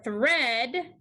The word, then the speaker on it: thread: For thread, we hear the E sound. So we put a brevy above the E and cross out the A. The A is silent in this digraph.